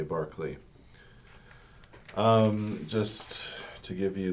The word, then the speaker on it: Berkeley: by the way um British people assure me that it's Barkley you know it looks like Berkeley as in UC see Berkeley in the